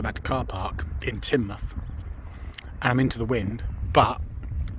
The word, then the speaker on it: Teignmouth: ends up in tin muth so it's pronounced tin at the end so it's teen tane and tin and just to add